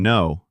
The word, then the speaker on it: know: And no. K N O W. The K is silent again. No. You know, not no.